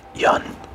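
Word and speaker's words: jan: postcard or clay tablet a Yan pronounced Yan you'll notice as a j is any human being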